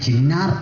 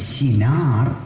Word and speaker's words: ഷിനാർ: ദേശം മൂന്നാമത്തെ പേര് മനപ്പാഠമായല്ലോ ആ ചിനാർ ദേശം തെറ്റിച്ച് ചിന്നാർ എന്ന് പറയുന്നത് അത് കേരളത്തിൽ ഇടുക്കി ജില്ലയിലുള്ള ഒരു സ്ഥലമാണ് ടാറ്റായുടെ തേയിലത്തോട്ടം ഒക്കെയുള്ള ചിന്നാർ അങ്ങനെ പറയരുത് ഷിനാർ അതാണ് കറക്റ്റ് ഉച്ചാരണം അപ്പോൾ ബാബേൽ ബാബിലോൺ ഷിനാർ